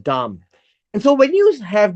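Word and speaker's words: דם: we deal with blood the word blood is Dum that's what it's pronounced Dum and so when you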